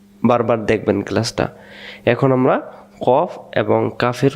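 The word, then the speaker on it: قاف: শেষে যেহেতু ফ অক্ষর পড়ছে তাহলে বাতাস বেরবে। কফ আর যদি আমরা বলি কফ কপ ত শেষে ব হয়ে যাবে। ব না কফ কাফ।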